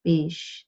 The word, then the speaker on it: beige: Sean and John, two beige sheep, and zwei Schafe, zwei beige Schafe. Beige has that sound in English, but in German, beige. It's beige. It's stimmlos, sh as in Schaf, beige, Schaf.